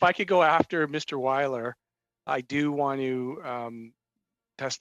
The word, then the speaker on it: Weiler: Wheeler, you have a discussion? Thank you, Mr. Chair. And just for information, my last name is pronounced Weiler.